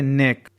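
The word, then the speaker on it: neck: देख लेते हैं जैसे नेक यहां पर के पहले सी है यहां पर ने उच्चारण हो रहा बट सी का उच्चारण नहीं हो रहा है क्योंकि साइलेंट है यहां पर चलिए देख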